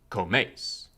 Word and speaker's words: comes: The empire was divided into military administrative districts, each of which got a leader called a comes, pronounced comes, a Latin word meaning companion, in the sense of